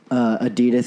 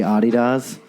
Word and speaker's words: adidas: out that if the new like it's actually pronounced the other way just like adidas is actually a DDoS just America I would did blow my [